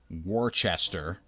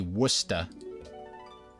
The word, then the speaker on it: Worcester: way but I mean we've also got Worcester Mass that spelt like Worchester but it's definitely Worcester don't let anybody tell you it's not Worcester the world has entered